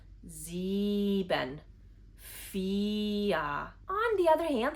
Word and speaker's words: sieben: For example, the part where the combination of the letters I and E makes the sound E. For example, sieben.